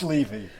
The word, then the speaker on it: Levy: And again, Levy. Did I pronounce it right? It's Levy.